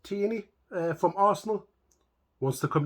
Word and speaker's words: Tierney: been announced that Tierney I think it's pronounced teeny from Arsenal wants to